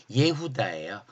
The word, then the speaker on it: 예후다: 아들 이름이 누구라 그랬죠 예후다 우리는 유다라고 이렇게 쓰지만 실제적으로 그들은 유다라는 발음이 아니라 예후다 했어요이 예다가 뭐라 그랬죠 예후다